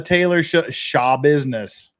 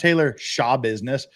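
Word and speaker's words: Taylor Schabusiness: So apparently it's pronounced Taylor Shaw Business, but everyone knew she was crazy from South Texas.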